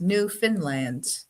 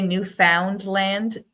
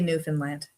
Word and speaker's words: Newfoundland: But I mean, people from away say Newfoundland, but Newfoundland, Newfies is what they call us. Where we say Newfoundland. Dwayne's right. It's Fin. It's almost like a new Finland, but different.